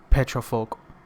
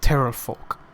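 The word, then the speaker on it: Pterafolk: There's 8 petrofolk, or he says 8 terrorfolk, because how they like pronounce it is based on Pterodactyl. no like they're like, you know, peasants and they don't know a lot, so like they say like terrorfolk instead of petrofolk.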